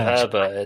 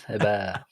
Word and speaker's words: Hebert: Instead of Herbert, it's Hebert. Little French actually French this time, Mills.